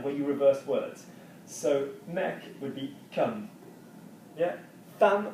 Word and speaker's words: mec: mec. C'est le mec. Strange French word because you're going to pronounce the C even though there's nothing after it.